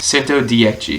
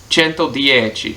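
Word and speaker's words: Cento Dieci: is I've got to remember how to pronounce this sento dii sento chento dii and the number six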